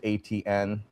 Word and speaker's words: Etienne: So yeah, most people they pronounce it like the letters ATN.